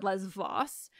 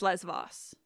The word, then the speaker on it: Lesvos: the B sound and in modern Greek it's lesvos but I know that in Greece you pronounce it Les Vos even if you're talking ancient Greek so I'm not saying